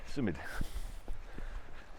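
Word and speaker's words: symud: Um to move s y m uud sumid is how you say to move.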